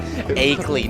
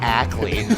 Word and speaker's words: Akeley: I just wanted to let you know that it's Akeley, not Ackley.